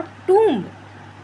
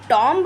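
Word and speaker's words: tomb: तो कॉम्ब एक कंघी है और टब एक मकबरा है। आप टॉमब नहीं कह देंगे। टंब कहा जाएगा उसको। ठीक है?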